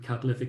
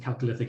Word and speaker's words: Chalcolithic: Oh, so I should say actually that there's two different ways of pronouncing Chalcolithic, either Chalcolithic or Chalcolithic. Most Irish say Chalcolithic. Myself being an American, I say Chalcolithic.